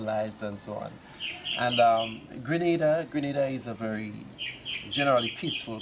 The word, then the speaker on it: Grenada: Lesson number 1, it's pronounced Grenada, not Grenada.